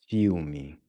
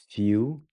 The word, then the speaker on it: filme: Filme. Filme. Filme. So the IL is pronounced ew. It's like in English when we see something disgusting.